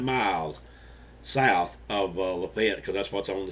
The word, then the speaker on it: Lafitte: as we went through Lafitte Alabama and I know that's suppose being pronounced Lafayette but most of us around here just call it fit but anyway leave it